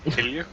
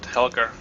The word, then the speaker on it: Helge: though I'm Danish, and it's pronounced Helge. I'm not even gonna try. No, don't. Yeah, no. Most people pronounce it Helger. Yep, that's what I actually thought, but Yeah, and that's the Norwegian pronunciation of it. But the Danish, no. so it wouldn't be wrong to do it like that. And even some Danish Yeah. people called Helge pronounce it like that.